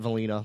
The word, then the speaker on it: Valina: And you can follow me, which is Valina, like Vanilla, Vallina, and my Instagram and Twitter handle is just Valina Ice. Damn, did I get your name wrong? I always thought it was Vanilla.